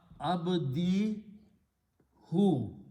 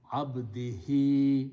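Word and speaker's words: عَبْدِهِ: He said, if I pronounce this who as he, the sound will come out better. So he just in the tajweed changed that to abdihi instead of abdihu.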